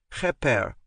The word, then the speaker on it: kheper: According to Aunt Daphne, the scarab beetle sign is said as "kheper" with the "kh" pronounced like the German "ach".